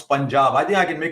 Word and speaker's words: Punjab: But I'm just saying, it's quite easy because P-U-N, even if you break it up, pun, right? No, just pun. So pun. Like puns are what we have in these shows. Anyway. Terrible. Punjab, for heaven's sake, Punjab.